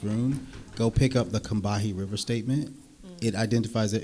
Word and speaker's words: Combahee: It's called the Combahee River Statement. I'm pronouncing this correctly.